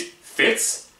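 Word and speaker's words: fitt: It's made up of called 8 fits. It's spelled like this, but I had to look it up. It's pronounced fit, and basically it means a portion of a poem or song.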